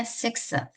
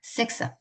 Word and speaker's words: sixth: 그다음에 sixth. 자, 크스 소리에다가 six 할 때 x가 크스 소리 났다가 th는 번데기 발음이죠. th는 번데기 발음 났다가 그래서 sixth. six 발음 어려워요.